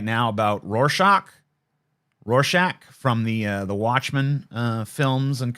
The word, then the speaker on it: Rorschach: Do I want to say Rorschach or do I want to say Rorschach? I think the ack. That's better, right? That's how it's pronounced.